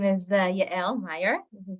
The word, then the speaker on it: Yael: My name is Yael Meyer. This is how it's pronounced, Yael.